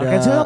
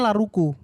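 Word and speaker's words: L'Arc~en~Ciel: Ada Lark and Seal melodic metal Mas. Enggak bukan. Ah. Band tapi Jepang. kenapa dibacanya Laruku?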